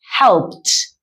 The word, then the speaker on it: helped: E y la D, lo que hace que cambie la pronunciación. Y esto sería helped. Helped, helped. Sonido fuerte de una T al final.